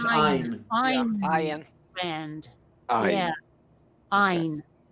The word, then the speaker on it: Ayn: Ayn or Anne Rand. Oh, I believe it's Ayn.